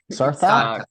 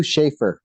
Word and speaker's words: Sarthak: How do I properly pronounce your name? Sarthak? Sarthak.